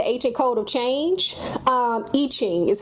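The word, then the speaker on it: I Ching: It also uses the I-ing the ancient code of change. Um Iching is how it's pronounced.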